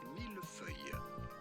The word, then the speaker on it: millefeuille: In French, this would be pronounced millefeuille.